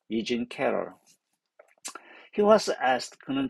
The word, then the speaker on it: E. Jean: 발음이 이진이 말고 이장, 진. 불어는 장이겠죠? 이진 캐럴.